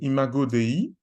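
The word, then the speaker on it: Imago Dei: ce moment euh s'appelle imagoi ça s'écrit comme ça se prononce donc i m a g o d e I qui a une expression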